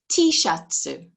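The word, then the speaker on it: Tシャツ: you can see that what they've done here is put in some extra vowels so that it fits the way that they pronounce things um another word tishatsu it's an item of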